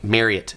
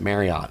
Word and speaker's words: Marriott: Everybody pronounces it Marriott except the company Marriott. Uh it is it is pronounced Mary like you're marrying somebody and then the word it.